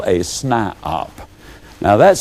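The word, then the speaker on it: SNIOP: toe and they become what i call a snipeop now that's spelled s n i o p that is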